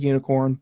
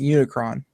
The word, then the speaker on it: Unikrn: like uh you know it's pronounced like unicorn but personally I in my head I've been saying Unicron Unicron I don't know